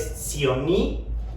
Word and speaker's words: SEEONEE: Nos encuentran para cualquier cuestión o duda en las redes sociales de la veterinaria, es Sionee, se escribe SEEONEE.